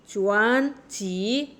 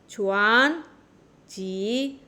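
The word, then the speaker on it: 卷尺: চুয়ান চি, চুয়ান চি। এখানে এটা rising tone হবে। পরপর দুইটা ফলিং রাইজিং টোন থাকলে প্রথম ফলিং রাইজিং টোনটা রাইজিং টোন হয়ে যাবে। চুয়ান চি, চুয়ান চি।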